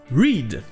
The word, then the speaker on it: read: Ce sera read. Et ici on trouve la première prononciation de EA en anglais, qui est aussi une des prononciations de la lettre E. Ce sera I.